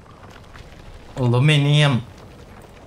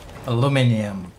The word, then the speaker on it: aluminium: It's with an I, okay? Aluminium. Aluminium. Aluminium. Aluminum. Whatever. I guess different pronunciation depending on the part of the world that you are in.